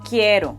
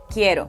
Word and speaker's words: quiero: Uno suave, en palabras como Caro Quiero Caro Quiero Do you hear that? It's a very soft sound. To get that soft R sound, you can think about the way many Americans pronounce words like butter or better.